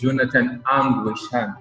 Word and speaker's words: Jonathan Ang Wei Shan: His name is Jonathan Ang Wei Shan, right? Yes, I pronounced it right.